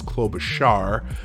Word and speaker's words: Klobuchar: It's Klobuchar. Klobuchar. I keep saying char. She actually pronounces Klobuchar.